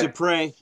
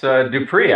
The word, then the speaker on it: Dupree: This is Dupre. Yeah, it's Dupree, actually. Dupree, but, I'm sorry. Pretty close. Pretty close. You didn't pronounce the final Z, which is silent, so hey, there you go. Okay, there you go. Dupree, I got it.